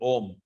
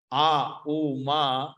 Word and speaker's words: Om: When you break in, when you separate it, a u ma, but when you pronounce it, you have to pronounce Om. Not Aum.